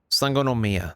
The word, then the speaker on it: Sangonomiya: on watatsumi island to form a resistance group sangonomia that's how you say it okay to say